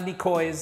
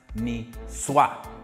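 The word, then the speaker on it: Niçoise: of my favorite salads it is a salmon nisswa salad it's not a nikoi's salad don't get confused by the spelling it is pronounced me swat so here's what you'll need it's going to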